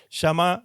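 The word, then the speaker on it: שמע: Shamá se escribe s h a m a.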